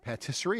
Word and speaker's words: patisserie: Duran Brooks, White Wolf Bakery, the patisserie, did I say it right there? Patisserie. Patisserie. Patisserie.